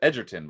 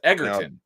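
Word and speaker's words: Egerton: Yeah, it's as far as I understand it's a hard G. Oh, I thought it was Edertton, but it's Eggertton.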